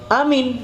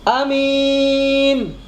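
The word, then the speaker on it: آمين: Kalau amin pendek, a-nya pendek, min-nya pendek, amin itu artinya rasa aman.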